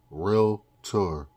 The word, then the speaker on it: Realtor: realtor. Realtor, not realtor. It's no extra a in there, no extra letters. Realtor for those people who don't know how to pronounce it and going to annoy me when they say it.